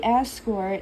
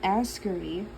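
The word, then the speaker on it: Asgore: Like, it's supposed to be Ascor and not Askery.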